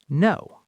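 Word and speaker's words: know: For example, in the word no. Yes, the K is a ghost.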